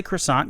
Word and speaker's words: croissant: you're an italian bakery a cuisine a quest song a it's a croissant you can say croissant you're american it's fine am i am